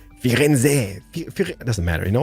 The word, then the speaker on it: Firenze: Firenze, doesn't matter, you know, we should kind of pronounce the Z. I think it's gonna be Firenze, si.